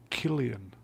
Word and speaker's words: Cillian: It's pronounced Killian.